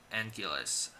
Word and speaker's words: Anguirus: But it's okay because they drop that name and they just refer to him as Anguillus. That's what they call him in the movie. The more common pronunciation that they use, kind of from, I believe Anguirus' next time showing up would be Destroy All Monsters.